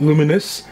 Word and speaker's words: Lumines: re uh rearranged and we got luminous that's how you pronounce it all set up